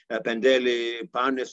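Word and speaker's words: Πεντέλη: envelope protect athens about using modern greek pronunciation mount emitos pandeli egalio each one with its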